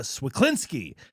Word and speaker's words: Cwiklinski: Uh, our guest is, uh, comedian, uh, Tatiana Swaklinsky.